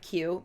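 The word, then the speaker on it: queue: up which i love that word q because it's literally the letter q and a whole bunch of silent letters lining up behind it mm-hmm right i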